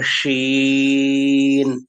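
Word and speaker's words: شين: হ্যাঁ, she sound হবে, শীত, বাংলাদেশ শীত বলে শীত, সেই শি সাউন্ড হবে। অথবা হি অর she, female gender বোঝাতে গেলে আমরা যে প্রোনাউন বলি কি শি বলি, শি, সেই শি এর মতো সাউন্ড হবে শি। অথবা আমরা শিপ বলি, শিপ, ফ্রেন্ডশিপ অথবা শিপ, সেই শিপের শি এর সাউন্ডের মতো হবে শিন, শিন।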